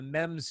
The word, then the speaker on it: MEMZ: full-length instrumental album by the mems duo that i'm i'm assuming i'm pronouncing right yes okay it's not the memes duo no memes for here